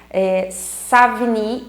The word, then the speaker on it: Savigny: Alguns professores utilizam, né, ou pronunciam Savigny, só que Savigny não é francês, na verdade ele é alemão, então por isso que alguns também utilizam a expressão Savigny.